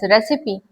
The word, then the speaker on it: recipe: Now this treatment symbol it is from the lating term and which is pronounced as recipe means take though or you take.